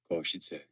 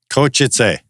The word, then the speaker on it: Košice: It's pronounced Košice. Košice. Košice.